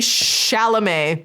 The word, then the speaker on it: Chalamet: in the comments get on me about some pronunciations here and there, and I don't care. Sometimes I do. Timothy Chalamet.